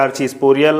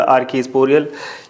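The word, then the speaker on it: archesporial: इनको हम प्रोनाउंस कर सकते हैं आर्चीस्पोरियल, आर्कीस्पोरियल ये कह सकते हैं।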